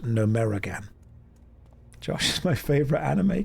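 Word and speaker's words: Gnomeregan: You're not following the signs to Nome Reagan. I'm following the signs. I'm immersing myself. Who is Reagan and why do we need to gnome her? That's just what she's into. Don't question. It's pronounced Numeragan.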